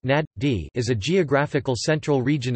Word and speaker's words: Najd: Najd or Najd Arabic, Enjd pronounced Nad-D, is a geographical central